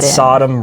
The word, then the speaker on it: Sodom: She said it right, you guys. She said Sodom, right?